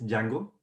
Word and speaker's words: Django: way but yeah basically the pronunciation is django with a silent d i have heard people